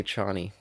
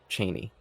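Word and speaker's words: Chani: is her name Z's character yeah they say Chie in these yeah is it incorrect it is yeah they went with David Lynch's pronunciations in a couple different things that that's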